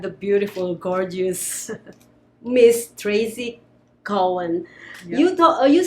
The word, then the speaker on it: Cowan: So my last name is not actually Cowan, it's Cowan. So Cowan. think of a cow and then Ann. So Cowan.